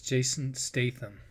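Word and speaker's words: Jason Statham: Also, Crank and Let me stop it so I pronounce that guy's name right. Okay, so it's Jason Staithm.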